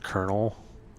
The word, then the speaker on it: Colonel: You know, why is it we pronounce it Colonel? But then when we're talking about like a group, it's colonial. Colonial Marines, but it's a colonel.